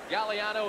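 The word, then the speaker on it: Gagliano: As you look at Bob Galliano, the G is silent. Galliano is the way it's pronounced.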